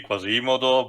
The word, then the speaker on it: Quasimodo: The technical correct pronunciation of the name should be Quasimodo, but I kind of get it.